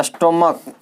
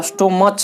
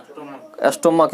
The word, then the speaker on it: stomach: जैसे कहते हैं स्टोमक, STOMACH, तो ये स्टोमच नहीं होता है, क्या होता है? स्टोमक।